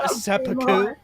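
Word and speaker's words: 切腹: That's pronounced seppuku.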